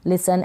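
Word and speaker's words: listen: एल को ल, आई को छोटी के रूप में प्रोनाउंस करेंगे, एस को स, और ये जो ई एन है लास्ट में एन है, एन को आप न प्रोनाउंस कर देंगे, लिसन, और ई का जो उच्चारण है अ के रूप में हो जाएगा लिसन।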